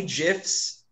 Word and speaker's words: GIF: There will be many GIFs. And I pronounce it GIF, not GIF.